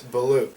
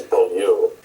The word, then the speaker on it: Beaulieu: oh oh and and what how would you pronounce it well I I believe it's beloo that'll work is that right yeah okay good